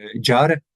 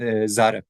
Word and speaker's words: Zar: over indigenous ways so don't say uh uh jar you should say Zar also he removes hinda